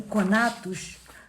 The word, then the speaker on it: conatus: de conatus então o conatus com nota e se escreve como se fala c o n a t o s essa potência de existir